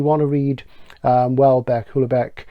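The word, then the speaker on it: Houellebecq: to read um well bear cooler Beck is what I call him well because this is the proper pronunciation submission the current French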